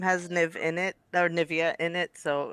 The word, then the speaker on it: Nivea: Well, it's like Nivea for me, like Nivea for men. Oh. Nivea. Oh, I like it. Because my name has Niv in it, or Nivea in it, so it's Nivea for me.